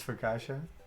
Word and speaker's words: focaccia: ] it's dj sadness that's not how you pronounce for kasha yeah no i mean i was doing it in in sort of an english way i suppose but it's an italian word i'm assuming middle aged